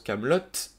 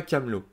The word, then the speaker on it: Kaamelott: AA Alexandre Astier, et 2T à la fin pour que l'on prononce Kaamelott et non pas Camelot.